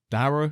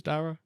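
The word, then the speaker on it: Darragh: the Everton vers Liverpool game thanks to storm Dara is it pronounced d Dar is it Dar yeah I'm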